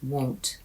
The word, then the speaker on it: won't: The answer was number one won't. Because won't has a hard O sound. O won't.